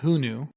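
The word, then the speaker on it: HuNu: was the idea so it's called who knew we actually wanted to call it small world because but who knew is like oh who knew but it's spelled like hu Nu because the the concept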